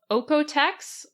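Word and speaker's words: Oeko-Tex: Another is called Oekotex. That's spelled OEKO, and then Tex, like Tex-Mex.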